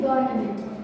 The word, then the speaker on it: government: Okay, it's not government, it's government. V is silent in government.